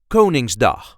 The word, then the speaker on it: Koningsdag: a regular Dutch accent coning D or in English King's Day the pronunciation in Dutch is kinging the first syllable gets the emphasis ging do go ning